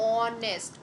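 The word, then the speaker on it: honest: तो ऑनेस्ट, ऑनेस्ट में कैसा प्रोनाउंसिएशन आ रहा, ओ का प्रोनाउंसिएशन आ रहा है, और ओ कैसा होता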